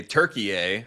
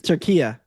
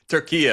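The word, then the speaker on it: Türkiye: Uh, Thursday Turkeye as we now properly pronounce have to call it that? So, I actually think it's Turkiye. Turkiye, okay, sorry.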